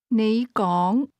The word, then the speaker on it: 你講: Those words are both pronounced with a rising tone, but you begins at a low level and speak at a higher level. Say again, You speak. 你講 Try to say, I speak.